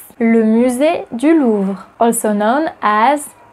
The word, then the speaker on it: le musée du Louvre: Number 6, le musée du Louvre, also known as le Louvre.